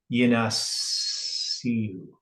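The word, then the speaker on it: יִנַּשְּׂאוּ: So it's got a yod at the beginning. So it's yinasiu is how you would pronounce the word in the form that it is.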